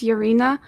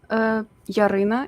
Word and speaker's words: Yaryna: My name is Yaryna, Yaryna in Ukrainian, but I'm 25 years old, soon to be 26.